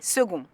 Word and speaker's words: second: quand second arrive premier historiquement second s'écrivait second avec une étymologie latine secondous qui signifie qui suit l'orthographe a alors été unifié afin de ressembler à sa racine mais la prononciation n'a pas suivi pour une fois qu'on faisait tout bien et second est resté prononcé second bien qui écrit second